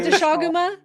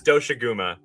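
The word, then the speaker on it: Doshaguma: Wait, is it not Daguma? No, it's Doaguma apparently.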